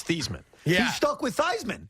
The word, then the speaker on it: Theismann: to him and said we're going to change the way your name is pronounced it's pronounced thiesman that's his name yeah